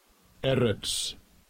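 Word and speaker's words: אֶרֶץ: Let's go to Strong's H 776 and let's listen to see how he pronounces all of this. Strong's H 776. Eretz.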